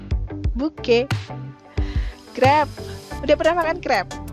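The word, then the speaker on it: crêpe: Udah pernah makan crepe? Bacanya jangan lagi crepes ya, tapi crepe.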